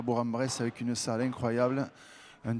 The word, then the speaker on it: Bourg-en-Bresse: Alors attention Laurent, parce qu'on dit Bourg-en-Bresse. Il faut faire très attention parce que les gens sont très susceptibles ici. Donc il faut dire Bourg-en-Bresse. C'est mon accent du sud-ouest qui me fait pas prononcer. Mais maintenant que j'ai bien retenu la leçon, ça sera Bourg-en-Bresse.